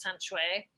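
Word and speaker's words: Can Xue: Her name is pronounced San Shui, and she's a Chinese avant-garde writer, and she's been like a bit of a mentor for me.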